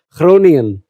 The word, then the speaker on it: Groningen: Groningen. Lagi-lagi jadi Groningen, kayaknya dibacanya kayak KH gitu.